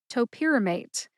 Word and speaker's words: topiramate: Topamate has four syllables. That's toe like the toes on your feet. This first syllable is identical to the first syllable in the brand name, which is topamax. By the way, again, toe like the toes on your feet. Pier as in a landing place for ships.